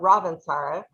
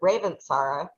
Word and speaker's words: Ravintsara: I have always called it Ravintsara, but I was listening to somebody who I'm sure knows more than I do, and he pronounced it Ravintsara.